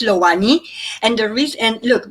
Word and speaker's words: LOANI: to make sure that it doesn't matter how you pronounce loani as long as you part of it you can Pro pronounce it Loney Lani whatever your heart desire is I think I believe